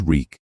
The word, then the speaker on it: Reek: My name is Reek. It rhymes with leak.